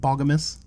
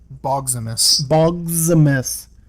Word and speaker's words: Boggsmas: So until next time, I am Monty the Yank, and with me, as always, is, I always say it wrong, but Boggamus, right? Boggsmas. Like Optimus? Like Optimus, but Boggsmas.